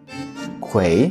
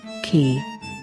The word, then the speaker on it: quay: Quay? What does that mean? Oh, qui? I would say quay. Or qui. Or quay. Is it quay? Quay. And here's how it should be pronounced. Key.